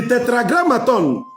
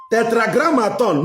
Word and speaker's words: Tetragrammaton: Tetragrammaton, meaning represent the deity of the sun in 4 syllables.